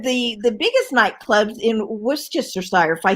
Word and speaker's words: Worcestershire: nightclub one of the the biggest nightclubs in worcestershire if i say it right worcestershire right that's it right worcestershire he's like yeah